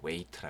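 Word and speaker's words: weight: 웨이트는 무게를 말이 무게 무게를 웨이터 라 그럽니다 gag 발음 되지 않고요 오바 웨이터 4 오바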